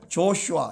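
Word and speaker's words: Joshua: 이 예호슈아를 우리 한국말로는 여호수아 이렇게 보면, 영어로는 어떻게 발음해요? 조슈아 이렇게 발음하죠.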